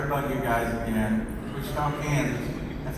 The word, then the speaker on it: Wichita: Wichita, Kansas.